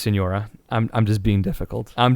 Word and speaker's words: Signora: and signora I like Sig Nora's music I'm gonna I'm gonna be real with you gamer I know it's pronounced Senora I'm just being difficult